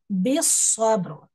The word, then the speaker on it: بالصبر: هي وتواصوا هي وتواصوا بالصبر بس this lam is silent b joins with the swad okay it doesn't have anything so it's a silent letter بالصبر وتواصوا بالصبر again